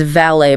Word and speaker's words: valet: When you first see it written out, your brain desperately wants to make it rhyme with mallet or wallet.